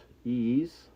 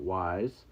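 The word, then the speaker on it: Ys: This here is a classic JRPG series, uh, pronounced ease, not wise.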